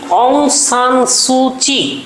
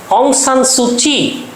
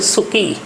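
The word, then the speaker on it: Aung San Suu Kyi: Free অং সান সু চি। এটা আসলে KYI, যদিও এটার উচ্চারণ হবে চি, এটার উচ্চারণ এরকম, অং সান সুচি, কিন্তু ইংরেজিতে বানান হচ্ছে অং সান সু, আমরা ভুল করে উচ্চারণ করতে পারি সুকি।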